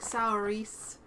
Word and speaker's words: Saoirse: Well, it's like Saoirse Ronan, the actress. I was like, Saoirse.